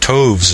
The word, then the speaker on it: toves: The I in slithy is long, as in writhe, and toves is pronounced so as to rhyme with groves.